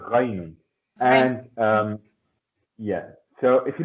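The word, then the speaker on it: غين: It's here, right? Deep in the throat. Ghaynun.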